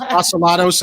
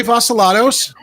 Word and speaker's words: Vasilatos: My last name is Vasilatos, and everybody mispronounces it because we've just got those ethnic names, which, and Well, that's while we're Oreo at it- joining us.